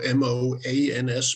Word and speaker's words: Mogens: a question for you my first name is pronounced as if it was spelled m-o-a-n-s moans moans so Asylum G the last